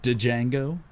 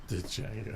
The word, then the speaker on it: Django: Death Proof, Inglourious Bastards, Django. Django. I've seen one of them. Right. Which one? The D You know is what the others silent. are all about, though, right? The D is silent.